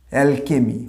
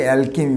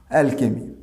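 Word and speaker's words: alchemy: অ্যালকেমি, অনেকে এটাকে অ্যালকেমি বলে। আগে একটু ডিটেলসটা বলি। এই ওয়ার্ডটা হচ্ছে, এটাকে আগেকার দিনে আমাদের যে রসায়ন শাস্ত্র, কেমিস্ট্রি, সেটার আগের নাম ছিল অ্যালকেমি।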